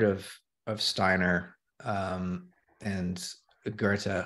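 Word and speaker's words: Goethe: of Steiner um and Gerta who at that point I was uh pronouncing goth because I'd only read it uh and so you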